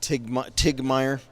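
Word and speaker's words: Titgemeyer: out hits the ice back is Tigger Meyer mispronounced that's t-i-t-g-e-m-e-y-e-r just TIG Meyer we'll call him TIG Meyer I could just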